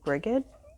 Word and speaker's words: Brigid: I know a lot of people pronounce her name Brigid or Bridget, but I've heard people pronounce it Bree too, because it's a Celtic name, I think.